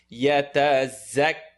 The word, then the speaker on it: يتزكى: يتزكى. Excellent. Za is pronounced top and bottom teeth together.